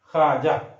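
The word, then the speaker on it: خواجہ: फिर उसके बाद अगर ख्वाजा लिखना है, ख्वाजा तो वाव लिखा गया है लेकिन पढ़ा नहीं जाएगा हिज्जे में, ख्वाजा।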